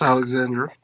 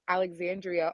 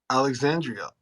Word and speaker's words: Alexandria: Yes, Alexandra. Oh, thank you. Put some respect on my name, Alexandria, all 5 syllables. Alexandria.